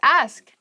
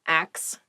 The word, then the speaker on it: ask: The next word is ask. Ask. Please pronounce this correctly. It is not ax. Many native speakers make this pronunciation mistake and it really bothers me.